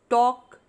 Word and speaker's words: talk: Chalk, talk and walk. Here in all the three words, the letter L is silent.